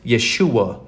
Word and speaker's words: Yeshua: or the the pentagrammaton which is pronounced Yeshua in Hebrew it's why h s